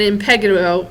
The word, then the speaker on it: impetigo: So, carbuncles, folliculitis, furuncles, and impetigo are all kinds of skin infections, basically.